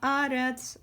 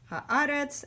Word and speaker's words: haaretz: Sim Shalom gives you this great indicator of which syllable is accented, haaretz and hamayim. Make sure that when you're chanting, you're accenting those syllables. They're there because a lot of people make the mistake of accenting the last syllable in those words instead.